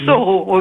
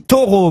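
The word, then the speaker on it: Thoreau: dit plutôt Soro voilà j'ai toujours dit taureau moi voyez pas un bien grand crime hein alors maintenant je dirais Henry David Sao donc m'avez au moins appris quelque chose c'est la prononciation de taureau h o r e a u mais c'est vrai que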